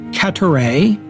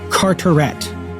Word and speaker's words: Carteret: I have it on good authority that Lord Carteret, as I've been calling him, should have been called Lord Carteret. So pronounced in English, not in French.